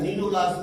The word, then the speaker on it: cnidoblast: ये जो नीडोब्लास्ट, ये अनसाइलेंट है, नीडोब्लास्ट पढ़ते हैं, सी नहीं पढ़ते हैं, नीडोब्लास्ट।